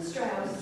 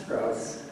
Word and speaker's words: Strauss: And you pronounce their last name? Strauss. Strauss.